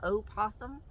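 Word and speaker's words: opossum: can you believe that o possum that's how you're supposed to say it but most people just say possum I just thought that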